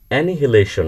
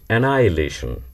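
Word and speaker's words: annihilation: it's comfortable I don't feel comfortable here তেমনি এানহিলেশন না বলে চেহারাটা দেখে এানহিলেশন মনে হয় এই এন এন আই এচ আই এল এটি আই ওন কিন্তু এর উচ্চারণ হচ্ছে এনাইলেশন এনাইলেশন অন্যদিকে সুগার না বলে আমাদেরকে আসলে বলতে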